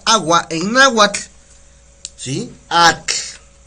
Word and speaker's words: atl: Atl, ATL, atl, ¿sale?